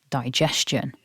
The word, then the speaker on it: digestion: we only need three digestion many people are also confused about that letter G but remember it's a j sound not a g and finally don't over